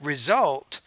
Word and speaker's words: result: as a result right result you have to make that higher pitch that second syllable because that's the primary stress within that two-syllable word but you're not really doing